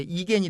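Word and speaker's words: Igen: 그리고 이제 예스가 이제 이겐이 되겠고요.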